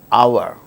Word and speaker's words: hour: For instance words beginning with a silent H in the words hour, an honor, an honest man, an heir, an honorable man. In all these cases, these words begin with H, which is a consonant